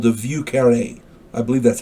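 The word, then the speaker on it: Vieux Carré: it's also called the view county i believe that's how it's pronounced v i e u x c a r r e and the accent is on that last e view carne i believe it's called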